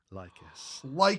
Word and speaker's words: Lycus: This is the Warp Spider Phoenix Lord, Lycus. That's how you pronounce it.